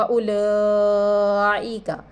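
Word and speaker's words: أُولَٰئِكَ: व उलाइका ये भी मद्दे मुत्तसिल का कायदा है, हमज़ा इसी कलीमे में है।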